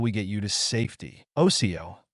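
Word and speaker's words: Osiyo: Osio, pronounced. Oso, greetings to a tribal elder, a clan mother, or another person in a high rank in the tribe.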